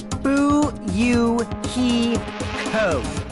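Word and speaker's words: Fuyuhiko: last name is my first name is pronounced boo you hee ho I'm still in an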